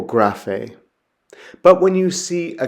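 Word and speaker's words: γραφή: Now, regularly, the gamma makes a hard G sound, like what you'd have in goat or give. There's the example graphe.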